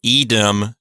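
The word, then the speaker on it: idem: loss of the consonant so eedm is really ISM but with the S dropped out and the I lengthened due to compensatory lengthening so EDM really is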